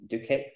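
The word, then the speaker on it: doocot: So there's lots of old, they call them dukits, and it's spelled dukot, and it means dovecot.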